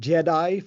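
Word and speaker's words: JITAI: In my field they're pronounced Jedi for some reason.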